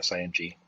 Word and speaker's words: Sing: So sing, just the way it's spelled or sound, SING dot link, LINK.